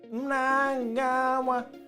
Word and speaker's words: Mnangagwa: Emerson Mnangagwa replaced which longtime Zimbabwean president after he was overthrown in 2017?